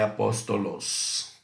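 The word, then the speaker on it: ἀπόστολος: após o loss tá não é assim que que se pronuncia Apóstolo no Grego é Apóstolos E aproveitando que a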